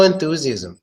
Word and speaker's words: enthusiasm: otherwise you propagate enthusiasm so there is a th sound of this and when I think we do use it no enthusiasm yeah it's a soft eight sound we do use it